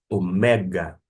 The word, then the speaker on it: omega: forma que é apresentada, vai ver que a acentuação, que vai justamente marcar ou indicar a sílaba tônica, não está no ômega, no O, ômega, na primeira sílaba, e sim no mé. Trata-se, portanto, de omega, o mega, o grande, vou dizer assim.